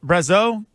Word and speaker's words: Brazeau: So talk about Brazeau, because am I saying it right? Brazeau? Yeah, it's pretty good.